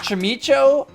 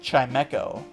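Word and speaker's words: Chimecho: like that's all this thing is good for chimo uh it's pronounced chimco chimco is fine I'm actually surprise I usually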